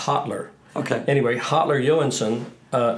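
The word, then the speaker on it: Hallur: it h a l l u r s pronounced hotler okay anyway hotler ewinson uh he sounds like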